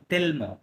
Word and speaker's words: tellement: ওকে, সো এটা একটা adverb, সুতরাং উচ্চারণ হবে তেলমো, হ্যাঁ, তেলমো।